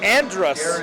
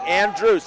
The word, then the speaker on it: Andrews: It's interesting how they pronounce Miles Andrews. That's normally Andrus, right? When you hear that in Preston, so that's interesting. Andrews, isn't that how the announcer said it?